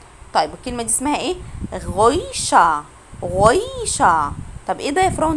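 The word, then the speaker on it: Geräusch: غويشة. غويشة. طب ايه ده يا فراو؟ انت ما نطقتيش حرف الار يعني في الاخر.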